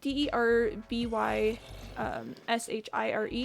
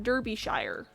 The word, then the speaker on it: Derbyshire: Okay, so it's spelled like D-E-R-B-Y S-H-I-R-E. You would think it'd be pronounced Derbyshire if you were American.